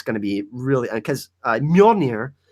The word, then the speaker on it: Mjolnir: to be really because Mjolnir, the Mjolnir, that's how you say it.